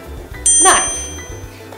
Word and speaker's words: knife: Similarly, we have the correct pronunciation of this word, knife, with the silent K.